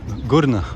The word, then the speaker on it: Qurna: bit further place and this place is called GNA or K Kaa uh they write it Kaa with Co sound but they usually pronounce it GNA at least locally here and we have been